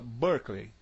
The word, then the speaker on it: Berkeley: Berkeley não se fala Berkeley, fala Berkeley.